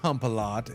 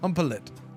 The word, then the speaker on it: Humpelet: Okay, it's not pronounced Humpalot. It's pronounced Humpelet.